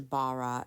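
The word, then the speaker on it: ברא: about today still um it's bar it could either be spelled b a r a h or B A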